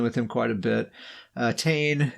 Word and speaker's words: Tane: Tane is his name, spelled like Wayne, but with a T.